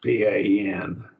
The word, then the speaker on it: pan: pan as a prefix p a n pon pon in Greek but we pronounce it pan in English uh and I remember